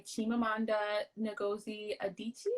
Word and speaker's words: Chimamanda Ngozi Adichie: we're reading half of the yellow sun by chimamanda ngozi adichie did i pronounce her name right that was good yes